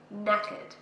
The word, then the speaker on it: knackered: And if you're tired, you can say buggered or knackered. So the K is silent, knackered.